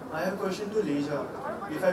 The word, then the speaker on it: Lijia: Hi, I have a question to Lijia, if I pronounce it right. Lijia.